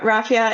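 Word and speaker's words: raffia: using so you're using Apple bamboo is it Rafia is that how you say it yeah Rafia it's from um the Rafia palm tree so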